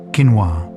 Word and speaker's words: quinoa: Quinoa was the gold of the Incas. Quinoa, pronounced quinoa, was so important to the Inca